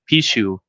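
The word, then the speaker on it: Pixiu: it's a lion or a dragon it's called Pichu you spell it as P iix IU p iix i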